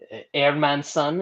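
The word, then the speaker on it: Hermansson: uh jack airman son airman son is the correct uh correct pronunciation i don't know if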